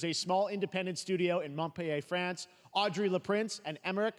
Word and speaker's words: Montpellier: the Game Bakers, a small independent studio in Montpellier, France, Audrey Laprince and Emmerich Toth. That's how you pronounce Montpellier.